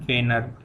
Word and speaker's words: Wiener: तो ये RH factor जो है, इट वॉज सबसे पहले डिस्कवर्ड बाय 2 साइंटिस्ट, उनका नाम था लैंडस्टियन एंड वेनर। इसका स्पेलिंग मैं लिख देता हूँ, EINER।